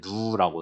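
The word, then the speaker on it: ν: 그 다음 밑에 누라고 읽는데 얘는 물의 동점성계수.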